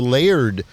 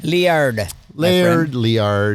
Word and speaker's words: Liard: heads south to the Laird watershed. Liard. Urs will beat you up if you say it wrong. Liard watershed, which really gave